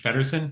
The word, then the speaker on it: Feddersohn: I have uh my next guest is Paige fedon am I pronouncing that last name correctly you got it